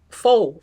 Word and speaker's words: faux: Faux. That's what we call, right? F A U X, right? Did I pronounce that properly?